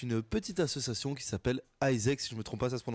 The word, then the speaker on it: AIESEC: on est avec une petite association qui s'appelle Isaac si je me trompe pas ça se prononce comme ça ouais et alors je laisse